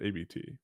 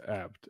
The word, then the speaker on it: Abt: well known and people Everyone that I've ever met calls it ABT but it's apt and it's a dude's name but nobody calls it